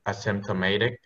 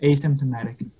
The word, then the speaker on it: asymptomatic: So you stress is on the symptoms. So it's symptomatic versus asymptomatic.